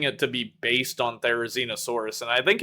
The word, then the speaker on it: Therizinosaurus: Okay, I'm going to mispronounce this as well. Therizinosaurus.